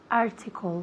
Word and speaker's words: article: Article. Muy bien. Article. Article. Fijaos dónde recae el énfasis. Article, en la primera sílaba.